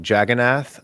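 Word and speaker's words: Jagannath: believe his name is it's a complete mispronunciation but like jagath or uh Juggernaut so I think that's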